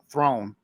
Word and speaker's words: Theron: That's like Charlize Theron, when somebody actually asked her in an interview, and she said, "Okay, it's South African. It's actually pronounced throne, like like Game of Thrones.